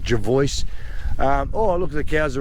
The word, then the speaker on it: Jervoice: Look, there's a few ways of pronouncing it if you really wanted to, but that's how I pronounce it, Jervoice.